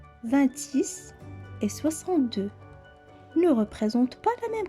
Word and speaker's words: six: chiffre c'est encore une fois sec le chiffre 6 veuillez noter que la literie x à la fin se prononce comme est ce encore une fois 6